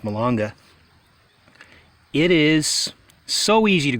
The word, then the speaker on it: malanga: way personally but anyway Mulenga malanga i think it's pronounced milonga it is so easy